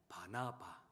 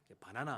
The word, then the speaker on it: 바나바: 바로 바나바. 예. 발음을 잘해야 되는데요. 바나나 아니고 네. 바나나 먹는 그거 말고 예 바나바라 하는 예수님의